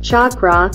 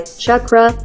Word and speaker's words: chakra: The word comes from the Sanskrit chakra, meaning wheel, circle, and sometimes also referring to the wheel of life. The pronunciation of this word can be approximated in English by chakra, with ch as in chart.